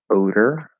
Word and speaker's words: odor: a flapped e um odor odor so it's flap d to er which is very difficult and the next one